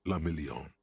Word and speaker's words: la Million: Guillaume la Million. Million, la million. If it doesn't rhyme, you're not pronouncing it right.